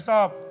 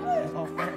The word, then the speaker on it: SOP: SOP, bukan sop. Dibacanya S-O-P. Sop.